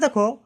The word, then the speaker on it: the: Consonant থাকার জন্য এখানে উচ্চারণটা দা হচ্ছে।